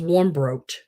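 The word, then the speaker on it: Warmbrodt: whole wide world um my last name was warm broke so that's w-a-r-m-b-r-o-d-t nine letters at six years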